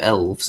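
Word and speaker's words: Aelves: And as far as the pronunciation of elves, I think most people are just going with elf, and the A is silent, just there for aesthetics.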